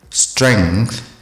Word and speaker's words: strength: have to say determine strength strength with the th sound at the end strength apparatus would you